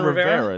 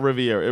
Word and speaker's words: Rivera: keep our boy uh Rivera it's a river how do you say his name I can't speak Ron Ron Rivera not Riviera Ron Rivera is going to